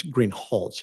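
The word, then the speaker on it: Greenhalgh: officer Greenhall I believe I'm mispronouncing your name it's green holch isn't it correct I apologize will you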